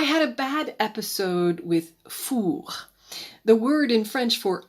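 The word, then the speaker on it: fours: hard on the back it sounds the same if the ovens referred to are in the plural fool with an S and fool were of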